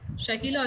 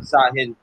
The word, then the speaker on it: Sahil: How yes, do you pronounce? Shakil or Shahid? I'm Sahil.